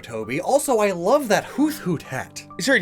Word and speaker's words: Hoothoot: Also, I love that Hoothoot hat. Sorry, did you just pronounce the th in Hoothoot? That's disgusting.